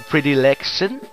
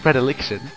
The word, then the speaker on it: predilection: it it it was predict i'll put readily pretty election yeah thanks that you really don't know how to pronounce i do anyways so it's pronounced predilection and it turns out what it means is